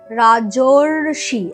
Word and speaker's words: রাজর্ষি: রাজা যোগ ঋষি, রাজার আ আর ঋষির রি মিলে হয়ে যাচ্ছে রাজর্ষি, দেখো উচ্চারণে রাজর্ষি, একটা অর আসছে, রেফ হয়ে গিয়ে সেটা পরবর্তী যে ব্যঞ্জন তার মাথাতে বসবে অবভিয়াসলি, এই জায়গাটা।